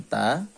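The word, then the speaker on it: ثَ: materinya sama ba dan ta hanya ada penambahan huruf ini namanya tak cara melafalkannya itu digigit ya lidah itu digigit ujung lidah digigit oleh gigi bagian depan ya Ini namanya ta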